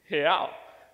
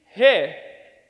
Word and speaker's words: real: See, in Portuguese, the way that you say real is real. So let me teach you how to say it. So on the count of 3, let's say he. So it's he, but without the e sound.